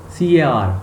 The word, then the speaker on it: car: CAR, car. R is not produced. The end R is not pronounced in English.